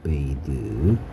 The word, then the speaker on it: bathe: bathe. 자, 요거하고 요거 되게 비슷하게 생겼죠. 얘는 a가 에 발음돼서 bath라는 목욕이라는 명사고요.